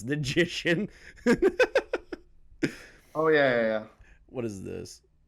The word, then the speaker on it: Ninjician: He kept saying your name wrong, and I was like, it's Ninjician. It's Ninjician.